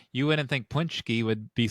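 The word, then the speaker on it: pączki: Well, And just like to bring it back, what we just said, you wouldn't think Punchki would be spelled Paczi.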